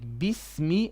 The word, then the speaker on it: Bismi: But generally, yes, it should be E, like Bismi and not Bismillah, Bismillah.